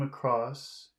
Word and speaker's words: across: What do you suppose he came across?